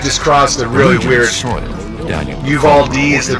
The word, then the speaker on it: Uvalde: Uvalde is the pronunciation.